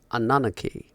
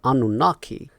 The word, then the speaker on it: Anunnaki: a very long time who is anaki the American pronunciation of the word whereas the britishers call it anunaki so anaki or anunaki